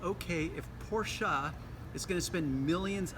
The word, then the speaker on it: Porsche: word for the day is porsa and yes that is the proper way to pronounce that word that name pora it's not Porsche porsa you know why I'm